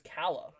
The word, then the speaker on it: Kala: correctly it's called Uh it is Kala like Greek uh oh is it I thought it was Cala kala whoops so probably not